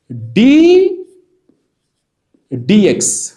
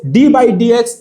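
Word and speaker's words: d/dx: ডিফারেন্সিয়েশনের চিহ্ন হচ্ছে এইরকম, ডি ডিএক্স, এইভাবে বলতে হবে, ডি ডিএক্স, ডি ভাগ ডিএক্স, ডি বাই ডিএক্স এইভাবে বলা যাবে না। তাহলে আসল প্রোনাউন্সিয়েশন হচ্ছে ডি ডিএক্স।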